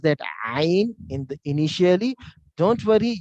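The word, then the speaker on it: ع: One of that alphabet is Ain. Ain. It comes from throat. Ain. Ain. Ain. So many Arab, when they chat, they use 3 or 9 when they want to use that Ain. Ain, because there is no equivalent of alphabet in English.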